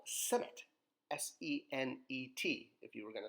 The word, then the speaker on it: Senet: This is an ancient Egyptian game called Senet, S-E-N-E-T, if you were going to spell it in modern, letters, if you will.